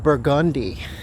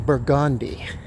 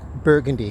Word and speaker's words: Burgundy: you're in New Orleans there's a street called Burgandi and you know that you pronounce that name Burgandi you don't pronounce it Burgundy street but and it intersects with Bourbon Street